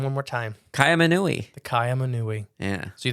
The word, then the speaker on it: Kaiaimunu: Kaiaimunu.